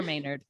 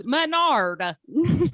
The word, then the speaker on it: Mainard: No, it's ever Maynard. But everybody goes, Monada, everybody in my whole life.